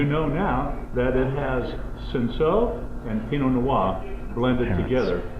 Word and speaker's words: Cinsault: Cinsault. It's pronounced Cinsault.